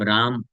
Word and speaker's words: राम: राम अगर बोलना है तो रा मा, यानी दोनों होठ ऊपर जाएगा और फिर आके स्पर्श करेगा, तब पूरी तरीके से सही तरीके से राम उच्चारण होगा।